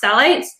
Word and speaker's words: phthalates: So one of the most common ingredients that comes up that's a real problem is something called phthalates, Phthalates, pronounced phthalates.